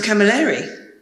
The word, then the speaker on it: Camilleri: It's pronounced Camilleri, as you know.